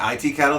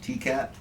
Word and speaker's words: T-Cat: I've been pronouncing it IT cattle the whole time, and I think it's just bars around T-Cat.